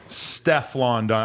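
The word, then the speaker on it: Stefflon Don: How do you pronounce it? So, Steflon Don.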